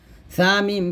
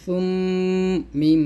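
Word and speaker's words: ثُمَّ: এখানে সার উচ্চারণ করার সময় একটু খেয়াল করবেন, জিহ্বার আগাটা উপরের দাঁতে আগে লাগাবেন।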